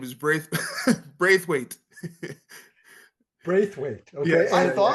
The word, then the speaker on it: Braithwaite: And the And pronunciation of the last name is Braithwaite.